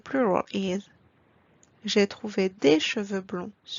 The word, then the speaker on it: cheveux: Un cheveu becomes des cheveux. Please pay attention to the pronunciation here. As you noticed, we don't pronounce the letter X at the end. X remains silent.